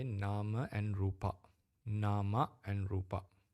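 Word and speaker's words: rūpa: to say nama and rupa. Nama and rupa. In Sinhalese pronunciation, we call nama rupa. In English, international Pali, we call it nama and rupa. Okay. Because the A is not closed, it's open.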